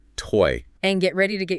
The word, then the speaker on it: TZ: real culinary adventure and it's called TZ pronounced toy and get ready to